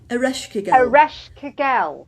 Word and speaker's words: Ereshkigal: So there was another goddess you were talking to me about, and every time I go to pronounce her name, it comes out wrong. Sorry. Ereshkigal.